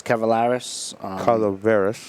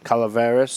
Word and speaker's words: Calaveras: Well, last week I had the Las Cavaleras. Calaveras. You could go with Cavaleras, whatever. Right?